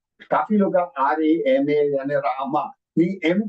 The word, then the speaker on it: राम: इट इज नॉट रामा. काफी लोग RAMA यानी रामा नहीं, एम को प्रोनाउंस करने के लिए to make the sound of एम, म, इट गिव यू अ.